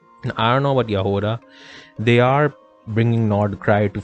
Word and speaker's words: Jahoda: The J is pronounced as a Y. I know that because I listened to Ineffa's voice lines and she said Jahoda. So Yoda, but with an H.